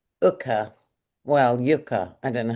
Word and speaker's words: Yuka: Well yuka I don't know how you pronounce it.